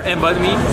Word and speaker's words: Embodme: We're Embodme, we're a French company.